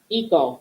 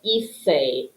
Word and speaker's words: hice: We want this C to sound like a soft C, like an S. Hacer, hice, hiciste.